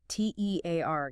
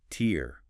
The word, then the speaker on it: tear: versus tear rhyming with hair or bear. That's the verb meaning to rip something like paper.